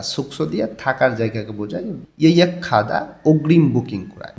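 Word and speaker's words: 예약하다: ইয়ে খাদা অগ্রিম বুকিং করা, গেয়কটা হিউতির স্থানে গিয়ে ক্ষয়ের মতন উচ্চারণ হবে।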